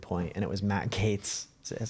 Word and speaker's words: Gaetz: a really good point, and it was Matt Gaetz. Is that how you say his name? Matt Gaetz?